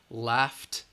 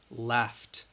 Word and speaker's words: laughed: walked next one laugh that G H has the F sound again which is voiceless left left left and then the last